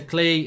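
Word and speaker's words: Klich: Yeah, Klitsch scored, but apparently you pronounce it Klee.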